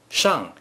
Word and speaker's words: 上: 上午 Shang has many meanings in Mandarin Chinese. In this case, 上 means upward. 上 is the fourth tone.